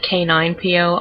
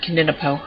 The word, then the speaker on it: K9PO: And the name is pronounced K9PO. I basically gave them all Star Wars names. You'll see that with the other two in a sec. But you can't put a number in a pet name, so I couldn't put like the number 9. I had to spell it out, and it just looks a little weird. Kind of looks like his name is Kininipo or something.